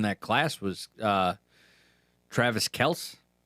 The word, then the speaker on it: Kelce: class was uh Travis Kelce. Or Kelsey, however you choose to pronounce it. It's Kelce. It's Kelce. It's Kelce now that he's If it's Kelce, I hate him even more.